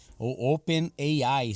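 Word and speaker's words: OpenAI: ele é desenvolvido pela Open ein né Open Eye Seria o certo da pronúncia aí que é uma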